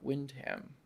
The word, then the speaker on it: Windham: So they got the internship, and then they got on this case representing Brooke Windham, who's Wyndham.